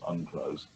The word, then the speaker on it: UNCLOS: of 1982, which is usually abbreviated, pronounced UNCLOS.